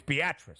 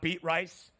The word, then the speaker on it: Beatrice: Nebraska that is uh a lot of people would say beatric it's beatric just so you know in case you ever have to pronounce his not beat rice not beatric beatric Nebraska